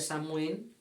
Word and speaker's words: Samhain: La nostra ja sabem que és la castanyada, el Halloween ens ve d'Amèrica, Anglaterra, originàriament ve d'una festa celta que s'escriu Samhain, es pronuncia Samhain, però què passa amb els nostres nòrdics?